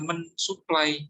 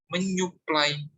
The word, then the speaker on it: menyuplai: kata dasar supply ya, maka dia bukan mensupply ya, tapi meng tadi dia berubah menjadi eng ya. Menjadi dibacanya adalah saat dirangkai menyuplai ya.